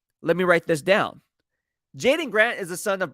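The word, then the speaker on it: Jaydon: his name is j-a-y-d-o-n so it's not Jay Dawn it's Jayden all right but just spells it differently pronounces it same so Jaden when I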